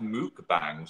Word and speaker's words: mukbang: It's pronounced mukbang, said someone.